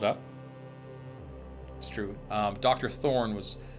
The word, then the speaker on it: Thorne: that's true um dr thorne was called up he was supposed to investigate the area while he was investigating doctor did you say doctor thor thorn oh there's t-h-o-r-n-e and there's a silent e okay okay horn thorny